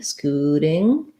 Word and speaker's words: scooting: So there's our oo vowel again. And first syllable stress. Because the letter T is between the oo and the I sounds in this word, it's going to be a flap. So it's going to sound a little more like a D, scooting.